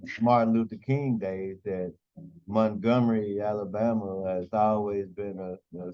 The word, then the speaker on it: Montgomery: Yeah, Montgomery, Alabama. Okay, I know he don't have to say it with a different accent. Of course, you know from the Martin Luther King days that Montgomery, Alabama has always been a center focus for